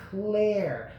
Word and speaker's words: Claire: the characters' names is Claire. I don't want you to get confused, because in her name there's an I, but the I is silent, okay?